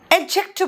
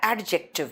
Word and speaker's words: adjective: एडजेक्टिव बोलते हैं बेटा, एडजेक्टिव नहीं, एडजेक्टिव। डी यहाँ पे सॉफ्ट या साइलेंट है।